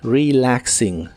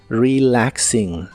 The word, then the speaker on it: relaxing: relaxing que significa relajándose la e se pronuncia como una I normal relaxing relaxing y usaremos el verbo